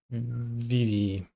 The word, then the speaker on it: Vivi: It's pronounced Vivi.